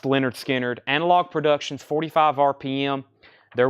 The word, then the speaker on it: Lynyrd Skynyrd: And back in stock is the Lynyrd Skynyrd, pronounced Lynyrd Skynyrd, Analog Productions, 45 RPM.